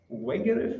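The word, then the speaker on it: Wegerif: Now, Rupert Wegerev, I think his name's pronounced as, is a professor of education.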